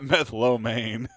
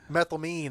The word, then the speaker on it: methylamine: What's It's not methylomane. That does. Yeah, I made it sound Chinese, didn't I? Well, what? Okay, pronounce a word for me so I know I do. Methylamine.